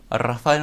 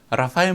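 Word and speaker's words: Rafael: 오늘 가우디 이야기 할 것이 아니라, 지난번에 우리, 라파엘 모네오. 스페인에는 이 알자를 굴려서 발음을 해야지 돼요. 라라라. 이렇게 혀를, 라. 한국 사람이 아주 발음하기 어려운 발음이죠.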